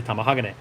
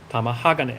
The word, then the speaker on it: tamahagane: I want to hear a Japanese person say tamahagane. Tamahagane. Tamahag. I can never say the I put the emphasis on the wrong syllable.